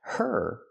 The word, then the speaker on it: her: Not scratched her, but scratched her. Her is not a stressed word. So the h is silent.